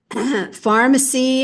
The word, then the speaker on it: pharmacy: controlled u in nurse Pharmacy and pharmacist have the pH which is the Greek spelling for the sound f f f RF it